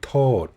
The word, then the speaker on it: ขอโทษ: Sorry, yes, it means excuse me, but I just call out, you just pronounce the T as a totao, not a totahan. ขอโทษ should be โทษ.